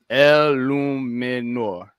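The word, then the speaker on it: Eluemunor: Bronx native says it's pronounced El Luminor.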